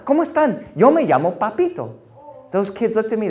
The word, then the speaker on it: Papito: to say it but he couldn't say it like my grandmother he said no no no he said oh papito he said sounds like dorito i went home i